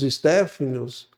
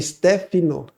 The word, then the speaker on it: Stefano: antes dos Stepanos, eh, porque não tem a letra A, tá? Eh, a gente, eu falei a minha vida inteira errado também, Stefano, né? É Stefano. Stefano é a pronúncia.